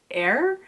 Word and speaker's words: Eir: But we really focus on her 9, one of which is, I think it's pronounced air, but it looks like ear, but like the goddess of healing is one of them.